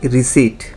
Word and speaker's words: receipt: যেমন এরকম পি দিয়ে একটা শব্দ হচ্ছে রিসিট। এই রিসিট শব্দের পিটা সাইলেন্ট, তো এই শব্দগুলোকে সাইলেন্ট লেটার্স বলে।